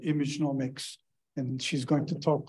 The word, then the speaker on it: imageomics: Thank you for inviting me and for the opportunity to tell you about this new field of, the new field of science, imageomics.